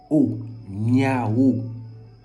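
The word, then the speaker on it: Niaho: Donc, Niao, ça s'écrit N-I-A-H-O. Niao.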